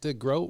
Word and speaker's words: DeGroat: in this part of the world spell their last name DeGroot, and and so I think it was actually changed back in the day to OAT because that's really how it's supposed to be pronounced.